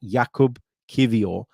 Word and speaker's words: Jakub Kiwior: kind of download on Jakub Kiwior. So it is pronounced like that, Jakub Kiwior. The W is pronounced as a V.